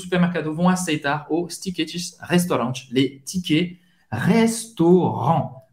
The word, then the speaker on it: restaurant: vão aceitar os tickets restaurant, les tickets restaurant. Restaurant, acaba aqui, hein? Não vai pronunciar nem o T, nem o S no final.